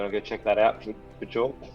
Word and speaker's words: Björk: You wanna go check that out, Bjork? How do you pronounce it? Bjork. Bjork. I mean, technically it's Björk, Bjork.